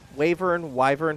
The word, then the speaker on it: Wyvern: Wyvern, how's it pronounced?